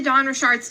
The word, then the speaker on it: Dawn Richard: And before we get into Dawn Richard's testimony, I have to show you guys how you actually pronounce her name, because if I get one